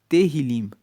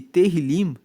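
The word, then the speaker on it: Tehilim: Tanto que no original bíblico o livro de Salmos se chama Terrilim. Se escreve T E H I L I M. E terilim significa justamente louvores.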